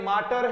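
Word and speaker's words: alma mater: मैटर नहीं होगा, माटर। लगभग मैटर बोलते हैं।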